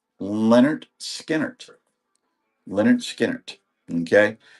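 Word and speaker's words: Lynyrd Skynyrd: This is their album Pronounced Leonard Skinner.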